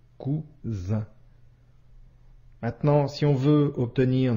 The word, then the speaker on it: cousin: La lettre S ici se prononce bien comme le son ze, cousin.